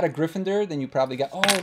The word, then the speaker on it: Gryffindor: I know you guys hate when I say Gryffindor but that's how you pronounce it let's open this guy up oh